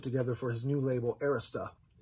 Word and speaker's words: Arista: for his new label arista it's called arista not arista i'm going to end